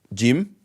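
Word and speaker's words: جيم: Okay, and first before this one comes jim, then ha, then kha. Okay, so jim like J, like gym, like going to the gym.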